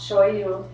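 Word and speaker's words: しょうゆ: in a Japanese restaurant soy sauce is pronounce show you so if you hear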